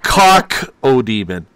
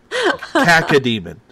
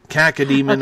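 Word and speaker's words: cacodemon: Not cock-o-demon. Cack-a-demon. Cack-a-demon, okay.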